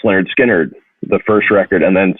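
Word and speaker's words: Lynyrd Skynyrd: Pepper or Abbey Road, or Willie and the Poor Boys by Creedence, the pronounced Lynard Skynard, the first record, and then Second Helping by Lynard Skynard.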